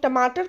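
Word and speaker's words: tomato: बहुत सारे लोग टमाटर को इंग्लिश में टोमेटो कहते हैं। बट the correct pronunciation is टोमेटो। टोमेटो। टमाटर की सही प्रोनाउंसिएशन है टोमेटो।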